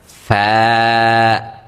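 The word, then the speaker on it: فاء: রাখতে হবে ফা ফা ফা উচ্চারণের ক্ষেত্রে আমরা কি করবো? উপরের যে আমাদের দাঁতগুলো রয়েছে সেগুলোকে আমরা আমাদের নিচের যে ঠোঁট রয়েছে সেই ঠোঁটের পেটে লাগিয়ে দিব। অর্থাৎ ঠোটের যে ভিজা অংশটা রয়েছে সেই ভিজা অংশে আমরা লাগে উচ্চারণটা করব। তাহলে কিন্তু আমাদের ফা উচ্চারণটা একেবারে পারফেক্ট সুন্দরভাবে হয়ে যাবে।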